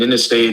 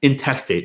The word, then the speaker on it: intestate: And an intestate is a person who dies without No. Intestate. Just say it like I did. Intestate. You said something else.